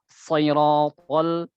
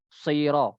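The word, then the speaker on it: صِرَاطَ: Nah, jadi dia ekspresinya siratal. Jadi bukan sira, bukan saira. Ya.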